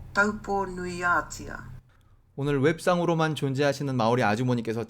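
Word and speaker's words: Taupō-nui-a-Tia: 그거를 마오리어로 어떻게 발음하는지. Taupo Nuiatia. Taupo Nuiatia.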